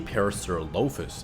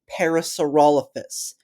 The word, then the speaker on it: parasaurolophus: And this leaves only parasaurolofus which also matches an correction. I think you mean parasaurolophus.